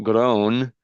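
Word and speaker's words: Groene: Um, long before the uh the the I think it's pronounced grown. G R O E N E.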